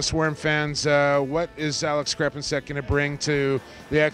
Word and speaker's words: Crepinsek: Is it Crepinsek? Oh, you're spot on.